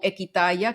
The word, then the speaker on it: Equitaya: mano, por supuesto, y se escribe Ekwitaya, que de hecho significa Equi, volver al origen, y Tayá es yo en lengua indígena.